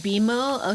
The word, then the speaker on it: BMO: It's pronounced Beimo.